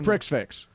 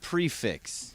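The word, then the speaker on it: prix fixe: to go to a prick fix I don't you got to watch out by the way pronounced it's pronounced prefix it's p r pre think of it that way oh it's pronounced if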